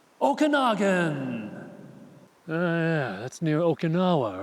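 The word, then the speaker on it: Okanogan: you pronounce this place that would be Okanagan there's even a song about it oh can again ah wrong all kinds are wrong you'll be scratching your Noggin over this one cuz it's pronounced okaga oh yeah that's near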